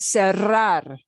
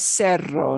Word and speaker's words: cerrar: take a look at cerrar to close cerrar to close okay uh yay only two syllables so uh becomes yeah you can't say it as cerro nobody will know what you're talking about sierra sierra okay right